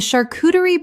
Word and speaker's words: charcuterie: Word 46, charcuterie. Common mispronunciation, charcuterie. Correct pronunciation, charcuterie. The CH makes a SH sound in this French word. Example, the charcuterie board was so beautifully arranged that everyone photographed